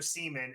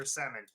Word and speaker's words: Semin: He's worse pronunciation than NHL '98 used to do with Alexander Seaman instead of Alexander Semin.